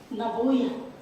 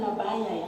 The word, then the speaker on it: naboya: mengatakan bahwa penyebab terjadinya naboya Jadi bukan nabaya ya kalau nabaya itu artinya gila kalau nabayaya itu artinya sinting setengah botol jadi sedikit saja berubah pengucapannya ini jadi berbeda jadi hati-hati kita menggunakan